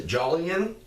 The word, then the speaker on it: Jolyon: his name was Louis I believe as I pronounce a Jolyon jol y OU n west they called him